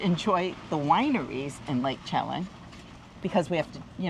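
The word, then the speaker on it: Chelan: want to go to Lake chellen no is that how you pronounce it chellen chellen okay while we're here each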